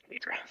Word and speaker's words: Diedre: Diedre. Mm-hmm. There's no A in it.